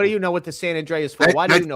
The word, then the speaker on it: San Andreas: That's so does Grand Theft Auto that has San Andress San Andre? That's actually with the A. It's San Andreas.